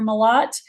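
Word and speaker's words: Malott: So as I said, my name is Malat, Professor Malat, and that's how you pronounce it. It's like the word a lot, only with an M in front of it.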